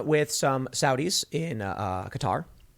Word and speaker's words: Qatar: some Saudis in uh Qatar or Qatar however you want to pronounce it people are yelling at me because I say cutter and uh Jared Kushner